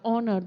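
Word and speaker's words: honour: हाउ डू we pronounced S word दिस is silent in and should read थिस world S ओ न ओ एन ओ यू आर ओनर दोएस नॉट हो न हो न इस रन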